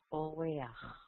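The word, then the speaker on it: אורח: Invitado, huésped, es oreach. Oreach. Se pronuncia la A antes de la Het.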